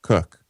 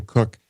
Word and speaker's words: Koch: story here about Jim Cook or is it Jim Cook I believe it's pronounced Jim Cook although it's spelled the same way as the Koch brothers um pretty sure he